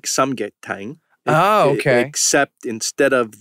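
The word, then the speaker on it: 삼계탕: And so that's a comfort food, just like samgyetang right.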